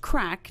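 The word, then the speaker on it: craic: Remember, C-R-A-I-C is the Irish word for fun, pronounced crack, not to be confused with the illegal substance.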